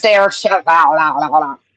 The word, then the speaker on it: Saoirse: Is it Sasha? They're like, no, it's pronounced Saoirse.